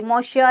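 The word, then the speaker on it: Monsieur: दिखाई दे रहा होगा इसकी प्रोनंसिएशन थोड़ा मसीहा टाइप से मोसिया टाइप से होती है ठीक है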